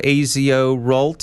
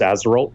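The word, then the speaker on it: AZORult: tell me about this a zo Rolt is that how it's pronounced I believe it's pronounced as roll but that's a really a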